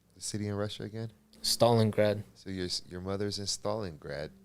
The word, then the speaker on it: Stalingrad: So in 1989, your mother's in, and how do you pronounce the city in Russia again? Stalingrad.